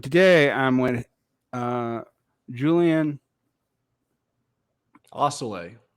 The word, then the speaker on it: Assele: I'm with uh Julian Osceola Osceola yeah I think I've always mispronounced it to sell it like it was Spanish but as you corrected me it's French gone and so um